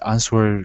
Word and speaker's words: answer: similar so is every answer could be the the so yeah it's kind of it's quite difficult okay remember with the word answer the the the W is silent answer okay answer answer yeah